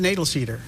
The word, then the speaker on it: Knoedelseder: I pronounce it Knoedelseder. Knoedelseder.